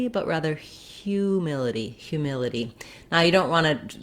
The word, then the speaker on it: humility: And then our ity ending is very typical in English that we do the lax I sound with a flap and the tense E sound. And by that I mean it sounds like itty. We don't use a strong aspirated T, not itty, but itty in American English.